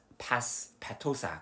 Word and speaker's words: Petosa: Miss Petosa could sit here too. 그리고 페토사 선생님도 여기 앉으시면 되겠네. That kind of sounds like the word petal.